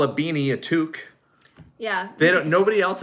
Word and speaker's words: toque: call a beanie a toque yeah they don't nobody else i think calls it a two cup with an essence it's a toque it's a knitted hat